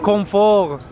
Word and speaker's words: confort: Saveur, Oh my variété, and confort.